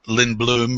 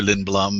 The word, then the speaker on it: Lindblom: it's U you know so it can be Lin bloom or Lin Blum I mean it's same kind of thing like I said I don't I don't really get bothered by how it's pronounced too much so from day one